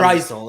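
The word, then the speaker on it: Draisaitl: You know, sometimes Drysdale is how you say his name.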